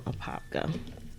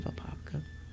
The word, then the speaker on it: Apopka: A lot of people never heard of Apopka. Apopka. The people that live in Apopka, they call it Apopka. I don't know why, because that's not how you pronounce it. It's an Indian name.